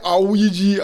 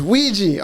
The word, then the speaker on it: Ouija: and it's spelled just, I hate when people say my name, Ouija, Awaja. It's O-U-I. That is we people, we. Like in French class. Oui, oui. Oui, oui. Mon show. You know what I mean? It's Ouija or Ouija, but the Jah